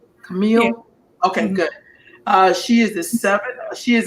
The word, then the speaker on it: Camille: And am I pronouncing your first name right? Camille?